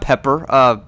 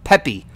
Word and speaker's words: Peppy: No, wait, not Pepper, Peppy.